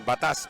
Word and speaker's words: Batas: So, Ken Batas pala ang pronunciation, di Batas. Batas talaga. Batas. Batas militar.